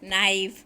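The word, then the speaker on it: knife: Wednesday, over, नाइफ, com, sign. Wednesday में D, over में एच, नाइफ में के, कॉम में बी, साइन में जी. साइलेंट है.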